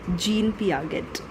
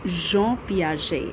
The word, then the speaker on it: Jean Piaget: that they call or they pronounce his name as Gan Paget okay so it's not that it's Jean P I've written it also